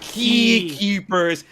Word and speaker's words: X Keepers: And then I'm like, so I get my phone, I message Sky, I'm like, dude, X Keepers, but it's pronounced Key Keepers.